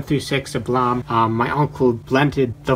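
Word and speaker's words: Blame!: have single volume of blame or I always pronounce this wrong single volume of blam I don't know why there's an e there it's stupid a single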